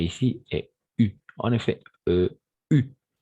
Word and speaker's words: eu: En effet, U. On va essayer à prononcer surtout le U, comme le U.